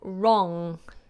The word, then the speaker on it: wrong: you pronounce the word wrong wrong wrong now notice the W is silent it just becomes the letter R wrong so there you go